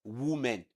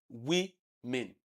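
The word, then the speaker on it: women: It is not pronounced as woman. It is not woman. It is not uh uh woman or whatever but the word is pronounced as we men.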